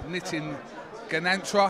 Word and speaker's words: Nitin Ganatra: With me, I have the legendary Nitin Ganatra. Have I pronounced that right?